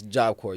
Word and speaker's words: Job Corps: be like it's not you don't pronounce the P like the is wrong with y'all dumb ass yeah it's job coure you right when you